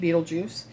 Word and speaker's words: Betelgeuse: It's actually named Betelgeuse. If you have seen the movie Beetlejuice, he's named after this star. They just spell it different.